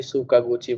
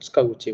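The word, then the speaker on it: 塚口: हम्म, कोई सुकागुची बोलता है, वो बोलता है। एक्चुअली उसको बोलते हैं त्सुकागुची बोलते हैं।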